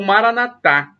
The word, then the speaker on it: Maranatha: Maranata como dizem os protestantes com a tônica na penúltima sílaba ou Maranatha como dizem os católicos com a tônica na última sílaba somos todos os cristãos